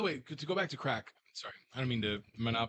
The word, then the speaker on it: craic: And by the way, to go back to crack.